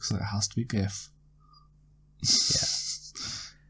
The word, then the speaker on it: GIF: it has to be gif yeah I know that the guy that invented gifts said they were to be pronounced GIF but then it should have started with the J in my opinion so uh it's a